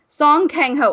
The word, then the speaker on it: Song Kang-ho: Korean, because that's what it is on a Song Kang-ho.